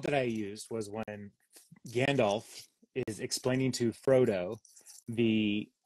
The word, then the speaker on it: Gandalf: Gandalf or Sam uh Gandalf okay Gandalf Gandalf Gandalf the L is not silent why would you have a silent l in English there are so there